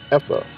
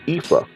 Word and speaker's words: ephah: of oil to an ephah, okay, or ephah, right? Either way you want to pronounce it, like potato, tomato, right?